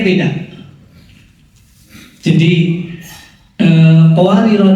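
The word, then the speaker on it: قوارير: bacanya beda jadi eh qawarir dalam surat al-insan ayat 15 qawarir huruf alif didahului huruf ro yang berharakat fathkah dibaca panjang pada saat wakaf karena ia ada di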